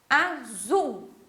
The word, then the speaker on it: azul: Azul, né? O zul, a gente fala ele até um pouquinho mais alto.